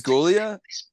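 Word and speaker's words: Giulia: I'm trying to see how to pronounce Julia. Okay. it's Gulia.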